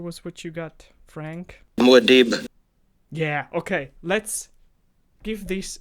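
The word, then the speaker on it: Muad'Dib: winner yeah sure was what you got frank muadeeb yeah okay let's give this a nailed it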